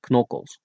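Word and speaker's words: knokkels: Make sure you pronounce the K. Knockles.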